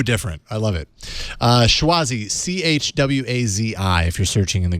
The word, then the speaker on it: Chwazi: Choisi, Chwazi, if you're searching in the Google, in the Play Store.